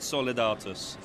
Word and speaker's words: Solidatus: You have to think of an Italian gentleman pronouncing a Latin word, Solidatus.